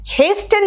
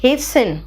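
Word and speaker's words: hasten: फान इट is fashion हेस्टन नहीं बेटा इट्स हेसन ऑफ्टन नहीं ट्स ऑफेन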